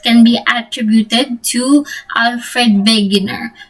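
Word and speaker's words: Wegener: be attributed to Alfred vager so I'm pronouncing his name as vager because he's German and he's a meteorologist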